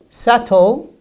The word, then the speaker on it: subtle: but it is silent it's silent it's doubt subtle and dead so we don't pronounce the best sound in this case in